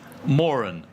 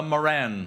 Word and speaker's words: Moran: Now, those of you who were here last year won't be surprised at that pronunciation of Morin, but some of you perhaps still may be. However, the family name is pronounced Morin. So part of my role is, very gently, to remind you all that this is the Morin Prize, not the Moran Prize.